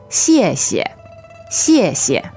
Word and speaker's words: 谢谢: It sounds similar to the SH sound in English, but it's not exactly the same. To pronounce this X sound correctly, you have to put the tip of your tongue behind your lower front teeth.